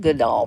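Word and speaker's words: Goodale: good Goodall Park good Dale Park and it's pronounced good doll but it spelled good deal it's good all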